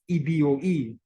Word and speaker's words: Igbo: evil spelled Igbo which despite its spelling is pronounced in the same way as the anglicized rendering of the word included in the name of the community as eboe the ebora West African